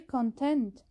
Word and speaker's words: content: When the same word is used in different parts of speech, the stress is often on a different syllable. This little dash is put before the stress in a dictionary.